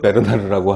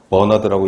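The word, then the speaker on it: Bernard: 클로드 베르나르라고 하는, 이게 프랑스 사람이랍니다. 그래서 버나드라고 읽으면 안 되고 베르나르라고 읽어야 된다고 출판사 사람이 알려줬는데, 암튼 이 양반은 항상성, 호메오스테시스, 항상성을 건강의 그 조건으로 이야기를 했다라는 겁니다.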